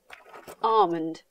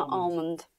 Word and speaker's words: almond: Almond, nie Amlond (ang.